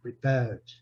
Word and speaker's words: prepared: A sílaba forte, tá vendo? Prepared.